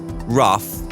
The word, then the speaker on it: rough: Lauren for your email cough rough and Slough where you are streaming from that's true cough see ough rough ro ug H Slough SL Oh ugh pretty much the same words aren't they with just different starting letters and yet coughed rough Slough they're nothing like they should be if you were to look at one and compare it to the other choose Lauren Drivetime with